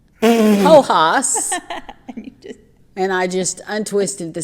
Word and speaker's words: Hojas: Hojas, Hojas, and I'm assuming since it's from South America that we're not going to pronounce the J as Hojas.